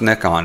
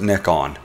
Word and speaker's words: Nikon: I found out recently that it's actually pronounced Nikon, no matter what us Americans think. We had a little discussion about it, and in Japan, they pronounce it Nikon.